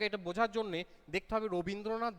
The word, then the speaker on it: রবীন্দ্রনাথ: তাহলে দেখো এটা বোঝার জন্যে দেখতে হবে রবীন্দ্রনাথ বানানটার মধ্যে আমরা কি শেষে অ এর উচ্চারণ করছি কোথাও? রবীন্দ্রনাথ বানানটার শেষে আমরা অ এর উচ্চারণ করছি না, ঠিক আছে?